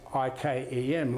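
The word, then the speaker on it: Yquem: y q u e m a chem d is silent chem was was built on the list ikem like ikea so when i looked at elizabeth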